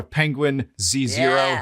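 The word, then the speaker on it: Penguinz0: one with you did with him I saw Penguin Zero I had to watch that again.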